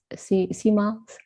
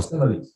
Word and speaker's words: similes: I know we were using the CMALs. Is that how you say it? Because I have a weird way of pronouncing things. Is it CMALs or similes or whatever? Oh, similes. Similes.